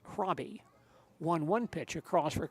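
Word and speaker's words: Hraby: Hroby, by the way, spells his name, for those of you not aware of this, H-R-A-B-Y, pronounced Hroby.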